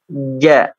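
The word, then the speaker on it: ج: Ja. Ja. Ja. Hati-hati, jim ini bukan apa? Bukan huruf hamas ya. Bukan huruf hamas. Tapi dia huruf yang jahar, yang tertahan ya, yang tertahan.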